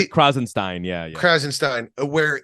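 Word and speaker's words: Krassenstein: And these guys, and, the to a lesser extent, like the Krasenstein brothers, am I pronouncing their names correctly? Krasenstein.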